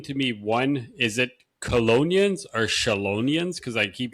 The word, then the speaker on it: chelonian: So colonian you see how I said it is is um it's it's a Latin word and ch in Latin is pronounced like a k. So colonian.